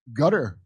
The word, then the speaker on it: Qatar: Gutter or you say gutter. I'm telling you that's how you say it.